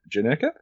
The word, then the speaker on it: Janerka: have a special guest on Today's Show janeka is that how you pronounced your last name yeah you did it